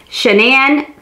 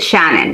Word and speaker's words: Shanann: father or the husband shenan now i heard an interview with her mom i always hear people pronounce her name differently her mom pronounced it shannon so i'm gonna just